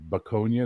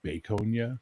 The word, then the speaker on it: Baconia: because it calls it Baconia. And it's supposed to be Baconia, you know, like as in bacon.